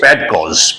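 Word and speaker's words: padkos: word is pad cause let me write down p a d k o s pedos the word is pedos pronounced correctly pedos so you may ask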